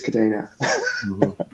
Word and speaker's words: Kadena: I think it was originated from Cadena the Spanish word uh and I think that's also how you pronounce it I know internally we always well even internally the name Cadena uh isn't pronounced in a industry in an even way but yeah uh I I think it is kadena fair enough okay cool